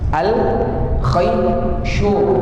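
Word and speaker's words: الخيشوم: Al-khayshu. Nah, alif, lam, kha. Kemudian ya, sukun, baru shin, baru waw, baru mim terakhirnya, mim. Bacanya al-khayshu.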